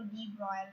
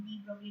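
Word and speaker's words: de Broglie: d Broglie wavelength, d Broglie, ये foreign writers अगर बोलते तो डी ब्रॉयल ऐसे बोलते हैं, तो हम इंडियन लोग हैं तो हम डी ब्रोगली जैसे लिखते हैं ऐसे ही प्रोनाउंस करेंगे, ठीक है। सो डी ब्रोगली wavelength, but actually डी ब्रोगली नहीं है, हम इंडियन लोग डी ब्रोगली बोलते हैं। सो डी ब्रॉयल इस टाइप का प्रोनाउंसिएशन होता है, ऑब्वियसली वो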